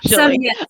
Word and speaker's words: Schilling: Schilling. I'm like, it rhymes with Billings.